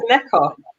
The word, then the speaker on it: Neka: Someone in the comments said, I thought, how do you say your name? Because the way you said it when you introduced the video is totally different to how I'm about to pronounce it. It's Neka. Neka.